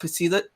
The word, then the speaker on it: pseudo: Like if you know the pseudo dragon. Pseudo dragon. Yeah, that's what I've been The P imagining. is silent.